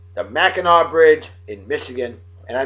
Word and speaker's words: Mackinac: suspension bridge opened in though it's spelled mackinac it's mackinaw straits the mackinaw bridge in michigan and